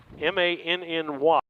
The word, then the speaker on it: Manny: Matt Manny, M-A-N-N-Y.